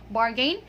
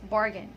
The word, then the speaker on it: bargain: Okay, so it's not bargain, it's bargain.